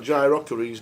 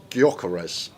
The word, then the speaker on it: Gyökeres: That Gyökeregel does. Or however you say it. It sounds like you should be in Dragon Ball Z. The way you pronounce it. What is it? Gyökeres.